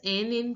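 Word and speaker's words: nid: Now here also the last letter of the word D is not pronounced. So this word is pronounced as ni.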